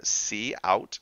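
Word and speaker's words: cout: using in the statement see out it's how you pronounce that so console out is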